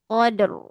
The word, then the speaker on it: Qadr: Jadi kalau baca Al-Qadr itu ro-nya dihilangkan. Jadi dibacanya gini. Inna anzalnahu fi lailatul qadr. Qad. Oh, ro-nya hilang kan? Nah, harus hati-hati ya. Nanti artinya jadi salah juga. Ya, harus ada ro-nya.